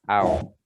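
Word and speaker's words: أو: Hamzah kemudian waw sukun. Hamzahnya berharokat fathah. Au.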